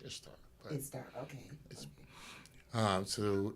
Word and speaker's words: Ishtar: Persian empires, and when their goddess Ishtar, which is actually in Persian or was it Farsi, pronounced Easter. Okay. Actually, but we say in English Ishtar.